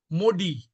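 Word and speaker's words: MODY: Modi that is actually the pronunciation is modi.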